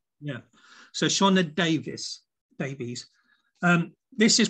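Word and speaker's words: Sioned: how to pronounce it it's s-i-o-n-e-d is it shona yeah so shauna davis babies um this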